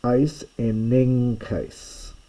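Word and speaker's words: εἰσενέγκῃς: chi, kappa or gamma, this first gamma is pronounced as though it were an N. I won't make it complicated to explain why, but this technically is not really a gamma at all. It's a guttural nasal, but it's written like a gamma and it's pronounced N.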